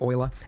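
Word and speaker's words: Euler: to annoy all the Europeans um anyways rotate Oiler go up here but you'll notice that as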